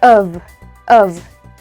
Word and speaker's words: of: this one is of this one thick v you can feel in your lips of. So, it is of. Oke. Walaupun spellingnya adalah f, tapi ketika dia dipronounce, oke, dipronounce dia berubah suaranya, sound-nya menjadi tebal ya. Jadi bukan but this one of.